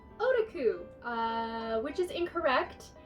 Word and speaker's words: otaku: Before I start this video, you might have noticed I pronounced otaku properly in this video. In earlier videos, I pronounced it like otaku, which is incorrect.